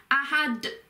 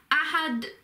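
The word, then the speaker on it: أَحَد: And at the end with the d or the del sound, you have got, because when you read Quran, you've got to try and make it flow, so you put a bit more emphasis on it. So it's ahad, and you sort of, the D sort of continues a bit longer, so ahad.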